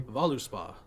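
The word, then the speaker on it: Völuspá: Pronouncing it correctly. Voluspa.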